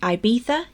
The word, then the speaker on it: Ibiza: th sounds like theater take the island Ibiza for example Nia Spade okay that's pronounced Ibiza even though it's got a z in it there are a few